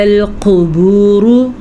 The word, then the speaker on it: الْقُبُورُ: وَإِذَا الْقُبُورُ بُعْثِرَتْ۔ وَإِذَا الْقُبُورُ، قاف کو پر پڑھیں گے اور را کو بھی